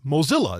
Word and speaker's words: Moz://a: But now their branding is Mozilla, but it's spelled MOZ://A. Just like if you're typing in HTTP, right? And then, colon, so, right. So the colon, then the 2 slashes makes up Mozilla.